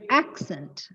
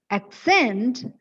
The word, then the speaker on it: accent: it is a verb the stress should fall on the second syllable and so it should be pronounced as accent the fourth syllable in